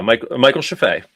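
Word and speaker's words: Michael Scheffe: KITT, and we have to talk literally about Michael Sheffey is the right way to pronounce that? Yeah, Michael Sheffey.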